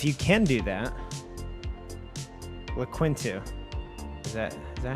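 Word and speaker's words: Linqto: can do that with quintu is that is that how you say is that what it's called yeah i'll spell it out t l-i-n-q-t-o that's like two win yeah sure something linked to yeah so that is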